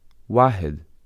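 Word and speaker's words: واحد: In Arabic, the word for one is wahed, pronounced wahed, as shown in the table.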